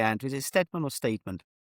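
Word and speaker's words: Tony Steedman: Is it Steadman or Steedman? So I would say you would pronounce it Stedman, but it could be Steedman.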